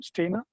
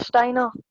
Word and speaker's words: Steiner: Stainer? No, sir, Steiner.